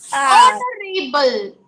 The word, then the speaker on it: honorable: Is silent. R. An R. An honorable.